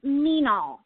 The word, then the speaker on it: Meenal: I'm hoping, is it Meenal? I want to make sure I'm saying it right. It's Meenal. Meenal, just like that. Okay, got it. Meenal, almost like mean but not mean, because you're not mean at all.